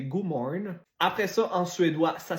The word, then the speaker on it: Godmorgen: Donc c'est pas God Morgan, c'est Godmorgen.